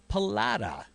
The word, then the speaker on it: Pallotta: We got Jennifer and Nick Pallotta.